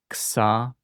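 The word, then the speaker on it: ξ: fa ka psa tha ksa Notice this one is like a ks pronounced right close together, which is kind of like the English letter x or a ks.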